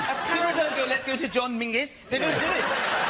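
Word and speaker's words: Menzies: His name is Mingus. Mingus. Yes. Goss. Yeah. Mus. Yeah, but it's pronounced it's it's spelled M E N Z I E S.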